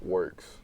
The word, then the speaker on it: WRX: It's actually Works. That's how it's pronounced.